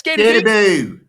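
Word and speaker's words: Skattebo: It's Scatabo.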